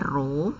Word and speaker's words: rho: ee yang ditandai dengan huruf kayak P gini ini dibacanya rho ya rho sama dengan massa